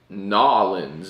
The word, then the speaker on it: New Orleans: one this is from nollans New Orleans develop the local the locals say nollans well this is New